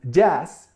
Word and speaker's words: jazz: For instance, jazz is spelled with doble Z, but it comes from English. But we pronounce it with S.